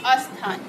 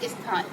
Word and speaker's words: स्थान: जैसे आपका पहला शब्द है अशुद्ध शब्द अस्थान। आधसा थाम्या की मात्रा ना, अस्थान, और शुद्ध क्या होगा? स्थान, यानी आ नहीं लगेगा।